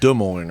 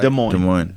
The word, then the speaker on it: Des Moines: Des Moines, right? Des Moines.